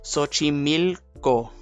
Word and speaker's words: Xochimilco: God damn it, I don't know how to pronounce this. If I butcher this, I am so sorry. It's Xochimilco.